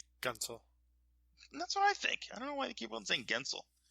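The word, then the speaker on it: Guentzel: Would you say Gunsel or would you say Gensel, as most of them are saying whenever I'm listening on air? Gunsel.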